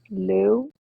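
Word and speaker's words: Looe: I traveled around um Lou which is spelled l o o e it's way down on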